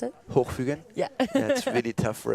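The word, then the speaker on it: Hochfügen: How do you pronounce it? Hochfugen?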